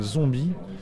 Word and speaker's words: Zonbi: Là, ce qui m'a décidé, c'est la première partie, qui est un groupe qui s'appelle Zombie, qui est un groupe parisien. Comme ça se prononce ?